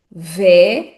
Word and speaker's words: velho: Pronunciando esta palavra sílaba a sílaba, teremos velho, velho.